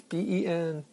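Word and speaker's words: Bến Thành: I just got back from dinner, and I had an excellent meal at Ben Tan, I think it's pronounced. It's Benthanh.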